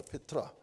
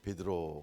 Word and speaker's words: 페트라: 그러면서 내 이름을 이제는 반석 페트라 헬라로 페트라 우리말 이제 일본식 발음으로 베드로 그랬는데 페트라라고 해라 이제 그렇게 이름을 고쳐주셔요.